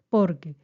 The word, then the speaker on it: porque: junos y sin tilde atención con la pronunciación de la palabra porque pues es llana observen aquí estoy en un caso de tilde general porque dos sílabas la sílaba tónica está en la en la segunda uno dos en por y no lleva tilde ya que termina en vocal termina en vocal por lo tanto hay que tener presente la pronunciación también debe ser porque y no Por qué